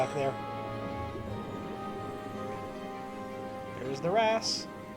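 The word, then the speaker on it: wrasse: there there's the RASS I heard it in a video since then so now I'm actually going to pronounce them Rass o can you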